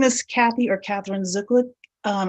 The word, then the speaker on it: Zuklic: um hi my name is Kathy or Katherine zuklic um it's Kathy with a c the last name is spelled z k l i c I've been